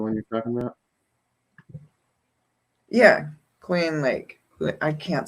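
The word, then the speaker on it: Kluane: Cluana Lake, is that the one you're talking about? Yeah, Cluane Lake.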